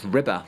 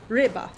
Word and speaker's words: Ryba: It's Ryba, like it means fish in Polish. Yeah, and I contacted the team and asked them how to say it, and it was Ryba.